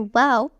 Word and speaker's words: Waw: Letter Wow takes the comma shape, as you see. Wow is pronounced like the W in wow.